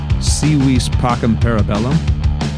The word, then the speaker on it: Si Vis Pacem, Para Bellum: that new seether album i didn't take latin but i think it's pronounced seawees pockham parabellum if you'd like to